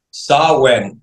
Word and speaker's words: Samhain: John, para culminar, la cita es este sábado, NWA, ¿cómo se pronuncia? Samhain.